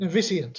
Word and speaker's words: Noviscient: Today I'm joined by Scott Treloar, who's the Chief Investment Officer at Noviscient? How do I pronounce it? Noviscient.